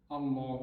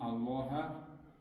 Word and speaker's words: الله: همین الله الفش مد کرده دراز نمی کنیم. الله همین طریق باید نگوییم. الله خطا.